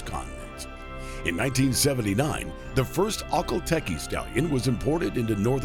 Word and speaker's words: Akhal Teke: Yes, that is how you say it, Akhal Teke.